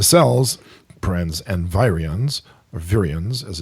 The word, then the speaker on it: virions: the interface the cells prens and virions are virians as it's pronounced organisms social groups nations and empires are